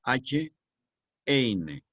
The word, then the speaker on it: Heine: poeta romántico alemán, Heine, se escribe H-Eine, H-Eine, y se pronuncia Heine.